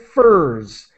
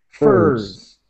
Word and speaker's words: furs: Okay, and just the word furs, it's like hers, furs. That's the pronunciation.